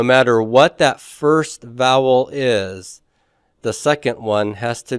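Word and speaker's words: αι: or an Upsilon for it to be a dipthong so let's take a look at the dip thongs here uh we have the um Alpha eoda DP thong and that will be pronounced I everybody say that with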